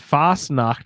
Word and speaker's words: Fasnacht: pronouncing at Fache or fast nah I don't know we should has somebody that speaks German well I I was a German major it's just Fasnacht but it's it's swiss german so I didn't